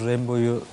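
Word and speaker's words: Rimbaud: Orada nasıl okunuyor? Rambo. Rambo. Doğrusu Rambo.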